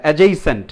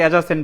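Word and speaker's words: adjacent: হ্যাঁ, অ্যাডজেসেন্ট, অ্যাডজেসেন্ট দিলেও হবে, সমস্যা নেই। লাইফ ইজ অ্যাডজেসেন্ট টু ইট, হ্যাঁ এটা দিলেও হবে। উচ্চারণটা আমরা অনেকে অ্যাডজাসেন্ট বলি, ওটা হচ্ছে অ্যাডজেসেন্ট।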